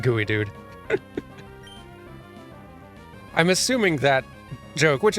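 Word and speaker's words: geoduck: a milkshake straw Pacific Northwest people know it's pronounced gooey dude I'm assuming that joke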